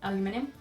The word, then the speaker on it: aluminium: Aluminium. What? Aluminium. Oh wow, aluminium. Yeah, aluminium. See? It's close enough. But Americans say aluminum.